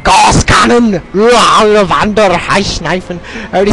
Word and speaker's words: Gauss: Yes, I say it like a German man. Gauss Cannon!